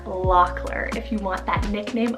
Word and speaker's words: Lockler: spell l o c k l e r Locker if you want that nickname of lock this